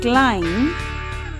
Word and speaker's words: climb: For example, the first word climb, the letter B is silent.